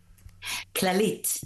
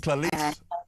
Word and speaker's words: Clalit: Is it Clalit Health Services? Is that how you pronounce it? Clalit. Clalit.